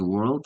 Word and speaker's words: world: Yeah, world is different because world is only one syllable.